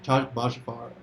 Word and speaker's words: Bachvarov: How do you pronounce this? Alexander Bachvarov. Bachvarov.